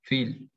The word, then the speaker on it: viel: La B corta normalmente como F, como decíamos, fil, viel, y a veces como una B corta normal en palabras de origen no germánico.